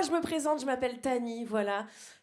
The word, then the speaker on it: Tahnee: Moi, je me présente, je m'appelle Tani, voilà. Tani, c'est un prénom d'origine indienne. Ça s'écrit T-A-H-N-E-E.